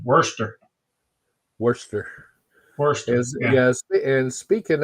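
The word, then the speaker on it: Worcester: mama mama uh Mama Teresa corrected my my pronunciation Worster Worster wor yeah and speaking of uh I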